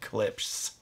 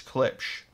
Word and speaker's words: Klipsch: for the longest time people get really mad at me and how i said clips it says klipsch yeah anyway sometimes i'd actually say it correctly at the beginning of the video but then towards the end it starts saying clips so it's clipch anyway the heresy i